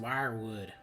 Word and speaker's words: Weirwood: where it all began the weirwood dan it's pronounced wirewood and that's what we'll